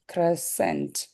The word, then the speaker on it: crescent: அந்த coffee GH வந்து Okay, உச்சரிக்க மாட்டாங்க. GH. Good. L silent. L silent standard English. Crescent.